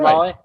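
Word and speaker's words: Civale: Okay, yeah, Is it Savale?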